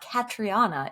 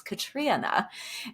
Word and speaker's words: Catriona: is Little Eve by Catriona Ward. By the way, this is a public service announcement for everybody listening. I just learned how to properly say her first name. It's not Catriona, it's Catriona.